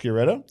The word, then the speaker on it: Sciaretto: Her name is, and it's pronounced Sciaretto.